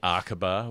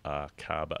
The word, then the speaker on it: Arkaba: It's at the Arkaba, which I've been firmly instructed you must pronounce that way, because I think I said Arkaba. I didn't know how to do it anyway.